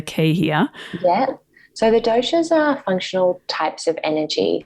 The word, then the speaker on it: doshas: So the fundamentals, I suppose, of this is the doshas. That's how you pronounce it, is it?